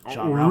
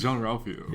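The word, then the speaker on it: Jean-Ralphio: Whenever I hear a John Ralphio name, I need to say it like the way that Tom says, like, Jean Ralphio. I don't know, just the way, I don't know, because it's Jean Ralphio.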